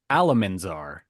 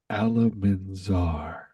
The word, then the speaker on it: Alamanzar: It's okay, Oliver, because I said it wrong. It was actually Alamanzar. Alamanzar.